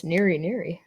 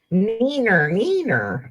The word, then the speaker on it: Neener: What's Neary Neary? Neener. Neener Neary? Neener. Neener. Did I spell it wrong? Neener. Sounds like you're saying well, wiener, wiener. Because, yeah.